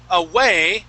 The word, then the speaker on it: away: enough cover okay so waves was good away you still pronounced a v sound okay so the waves rumbling a a would okay try it one more time the waves rumbling away will not provide enough cover good much better okay so whenever you have those uh those those words that start with a W okay you want to pronounce an oo sound okay all right let's